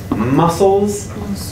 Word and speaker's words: muscles: and our arms the this is the same um sound different spelling so for our muscles in our body there's a c in there even though it's silent muscles like um yeah muscles